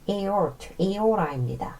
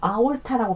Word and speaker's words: aorta: aorta입니다. 발음 유의하셔야 돼요. 아올타라고 발음하시면 안 돼요.